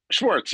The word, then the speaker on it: Schwartz: have I pronounced it right? Schwartz. Schwartz, you got it.